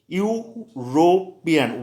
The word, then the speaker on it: European: अब नंबर 3 पे जाइए, यूरोपियन, वेरी इंपॉर्टेंट, ए यूरोपियन। इसका प्रोनाउंसिएशन भी वाई से होता है, यूरोपियन, वाई से होता है।